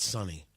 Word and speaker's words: Suni: And then Butch Wilmore and Suni Williams, I believe it's pronounced Suni, not Sunny. I could be wrong.